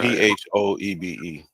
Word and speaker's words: Phoebe: phob phob okay phob p h o e b e we seen that name somewhere that's Phoebe not fob y'all better learn how